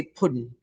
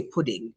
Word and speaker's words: pudding: of the words um we don't speak like that we don't say puddin we say pudding you know we pronounce or ings um oh i see